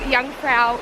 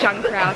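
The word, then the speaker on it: Jungfrau: to the top of young prow Mountain like my pronunciation we've been calling it Jung prow definitely wrong um and we're going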